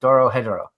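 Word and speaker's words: Dorohedoro: For those of you curious, Darren had picked Doro Hedoro. Oh my God, you actually pronounced that correctly.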